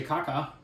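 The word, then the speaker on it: kākā: But we did see a kaka. Mm-hmm. And that is the proper pronunciation.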